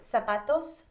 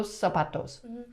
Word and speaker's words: zapatos: knew that one already is it s or a z sound at the beginning uh it's a very uh low z so zapatos no subatos okay and then socks